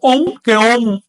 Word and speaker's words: om: En agatle, si en una composición terminada en n se añade un término comenzado en vocal, esa n se transforma en m, que es una regla fonética de la lengua. Así que vale lo mismo om.